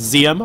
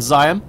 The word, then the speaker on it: Zium: uh guys in chat telling me it's zium rather than Zion I'd love to hear